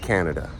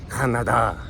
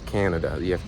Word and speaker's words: Canada: like, no, it's pronounced Canada, not Canada. Because you see in Spanish, they only have one A sound, it's A, and Canada. But it's not, it's Canada. It's a long A, okay?